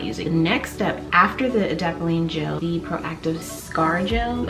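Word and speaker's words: adapalene: is the proactive md i think it's pronounced edapoline gel it's an acne treatment gel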